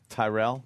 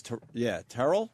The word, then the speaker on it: Terrell: a lunatic, and doesn't like his name mispronounced, Terrell? even though everyone says Tyrell? what. Yeah, now I'm confused. What is it, Terrell? He says, Terrell.